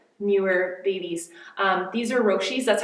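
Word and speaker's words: Roshe: are my other newer babies um these are roshi that's how you pronounce it roshi and it means means speed or something someone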